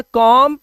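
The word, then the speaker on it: comb: तो यहां पर कॉम बम एंड थंब डम। ठीक है? ऐसे एम के बाद अगर बी आता है तो बी को हमें क्या करना है? साइलेंट करना है।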